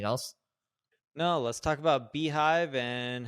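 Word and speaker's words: beehiiv: And Beehive is interesting because they're another platform. It's spelled BHIV, and they were created by the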